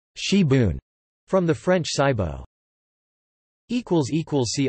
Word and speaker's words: sibwn: Wales, known as spring onion or gibbon, also known in South Wales as sibon, pronounced shibun, from the French cibo.